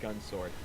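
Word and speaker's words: Gun×Sword: hunter x hunter it's apparently just pronounced gun sword oh all right i've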